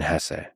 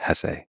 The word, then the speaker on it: Hesse: And by the way, please allow me this pronunciation of his last name. I've heard some people say Hess, but my whole life I've always said Hess.